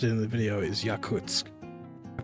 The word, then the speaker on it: Yakutsk: I found it where it's yakoot for the language. Yakutsk for the city.